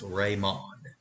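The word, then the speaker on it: レモン: Now, remember, the Japanese pronunciate their L's like R's. So instead of lemon, it's raimon. Next, we have plum.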